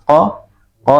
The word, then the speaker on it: qaf: Berbeda dengan ko ini nafasnya tertahan ya, ko.